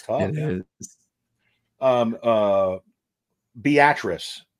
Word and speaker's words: Beatrice: it's tough um uh Beatrice is a town in Nebraska spelled like Beatrice but it's the actress or beet rice is how it's basically spelled b-a-t-r-i-c-e but it's it's a Beatrice not Beatrice it's so crazy because I'm